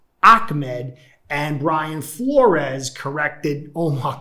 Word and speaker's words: Ahmed: to pronounce it right i originally pronounced his name salva ahmed but i've had arabic people like four of them contact me and say in arabic it's ahmed but i had other